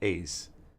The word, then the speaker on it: aes: I believe it's pronounced AES. AES. Let's see if we can pull that up. How to pronounce it in Latin. AES. Latin. Is. It's is.